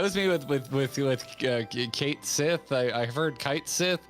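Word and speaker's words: Cait Sith: you look up the japanese pronunciation it's completely different uh so it's it's like a kato sith or something i forget um so it's it's just been uh that i was like whatever it's it's kate says to me i'm just gonna go with kate sit that's what we're rolling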